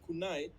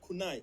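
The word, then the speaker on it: Kaizen: As a Japanese word that is called kunai, it is spelled KNEI. It is called kunai.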